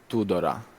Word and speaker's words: Tudora: Yeah, so Alexandra was telling me like it's quite a small village in Tudora. Is that correct? Tudora. Yeah, actually, the accent it's on U, so it's Tudora in the Okay.